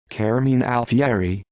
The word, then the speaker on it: Carmine Alfieri: carmine alfieri italian pronunciation caramin alfieri born february 18 1943